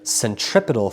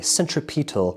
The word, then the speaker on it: centripetal: no centrifugal force but it's rather centripedal force or centripetal force I once had a substitute teacher who pronounced it that way centripetal so it's rather centripetal